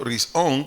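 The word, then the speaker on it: ראשון: primero del vocablo hebreo rison r i s o h n hebreo rison acento en la o su definición es principio comienzo o inicio o antes de cualquier cosa repito primero risón principio comienzo o inicio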